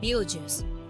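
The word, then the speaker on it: Betelgeuse: pretty sure the pr the star uh is pronounced like be juice which no one should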